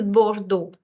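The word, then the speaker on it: Bordeaux: go ahead B okay B so this is the sound of O and you're saying bordo bordo also this e a u and X this combination is is actually a syllable that exists in French which will come a little later for those who don't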